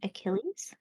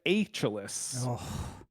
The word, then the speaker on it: Achilles: a real heel juvaria who is Achilles Achilles yes or as he said it aelis rule 34 for 16